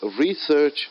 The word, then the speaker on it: research: So the word research is a noun. I'm stressing more on the word re, first syllable. Research is a noun and research is verb.